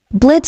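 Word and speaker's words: Blitzø: Name's Blitz." The O is silent.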